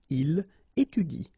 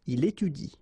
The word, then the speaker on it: il étudie: So after another vowel, like here, for instance, you don't pronounce this e, okay?